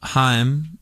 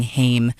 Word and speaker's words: Haim: a lot of us made the mistake of saying Haim, as in Corey Haim, but we learned very quickly that it was Haim. I mean, it's the same last name, but I guess everybody pronounces it differently.